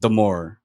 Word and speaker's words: D'Amore: First of all, it's pronounced Damore. It rhymes with adore.